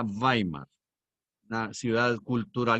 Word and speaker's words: Weimar: comunicación en weimar que se escribe con doble uve gamer se pronuncia weimar una ciudad cultural y